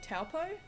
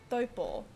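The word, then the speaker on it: Taupō: Like a great example of this is people saying Taupo, which is a regional city in the North Island, kind of in the middle of the North Island. It's actually said Taupo, but Pākehā folks just say Taupo.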